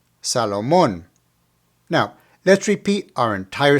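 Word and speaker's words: Salomón: finally we have Salomon as you can see there's an accent over the last o so put the the emphasis right there Salomon Salomon now let's repeat our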